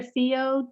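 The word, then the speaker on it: whio: These are Theo Ducks, which is W-H-I-O, but W-H is pronounced F.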